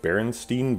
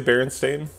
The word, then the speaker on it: Berenstain: of when people were arguing about the pronunciation of the berenstein bears several years ago i don't know if people remember that berenstein brenston who knows um do the books all say berenstain oh right and people